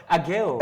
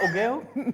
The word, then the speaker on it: Agale: Agale. It's not Ogale? No. It's Agale.